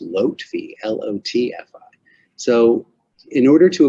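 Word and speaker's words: Lotfi: and i said lofty well look it's not lofty it's actually pronounced lotfee l-o-t-f-i so in order to avoid making a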